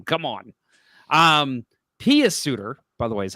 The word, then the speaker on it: Pius Suter: I heard Jochen Hecht once, and I'm like, come on, you're literally phonetically saying his name. Come on. Pius Suter, by the way, is how you say it.